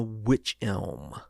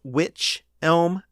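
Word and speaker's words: wych elm: elm i i think it's pronounced witch elm but it's spelled w-y-c-h a particular kind of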